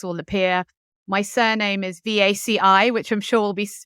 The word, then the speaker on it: Vaci: My surname is Vaci, which I'm sure will be written somewhere. Yeah. So it's pronounced Vaci, just because nobody can ever pronounce it.